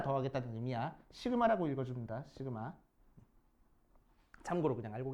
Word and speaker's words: 시그마: 시그마라고 읽어줍니다. 시그마. 참고로 그냥 알고 계시라고 읽어.